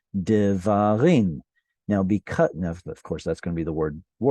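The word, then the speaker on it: דברים: You add the im, this guy is too far away from the stressed syllable and therefore reduces to a shva, and you get devarim.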